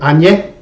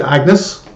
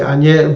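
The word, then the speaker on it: Agnès: pronounce this for me i will say anye some people say agnes but i would say anje varda her some of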